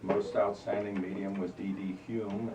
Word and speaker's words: Home: Hume. It looks like home, but it's pronounced Hume.